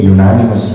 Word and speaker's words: unanimous: The proposal was accepted by a unanimous vote.